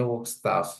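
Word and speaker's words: Werkzeug: ini merupakan ini ya cara bacanya gimana ya staff Oh bacanya work staff ya jadi digunakan untuk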